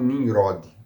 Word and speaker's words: Nimrod: Na língua hebraica você fala Nimrod. Os árabes também, se não me engano, tem uma pronúncia parecida com isso aí. Eles não tem esse R assim, tem um R com R, Nimrod.